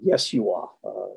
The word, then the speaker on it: Yeshua: Sometimes you hear me, when Josh is in the room, I'll say, Yeshua, Yezu. That really is the Hebrew or Aramaic pronunciation.